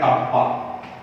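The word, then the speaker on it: kappa: अब इसे की जगह पर इनका प्रोनाउंसिएशन होता है कप्पा, इन्हें कप्पा कहा जाता है, एंड इट is just inverse of a specific resistance।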